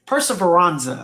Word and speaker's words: Perseveranza: I've been saying it wrong the whole time. Perseveranza, all right, like to persevere.